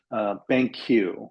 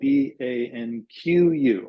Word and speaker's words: BanQu: doing some really interesting stuff, and it's called BanQ, which is spelled BANQU, BanQ.